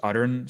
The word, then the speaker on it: Arun: Yeah, you don't have to roll your R. You can just say Arun. Arun is fine.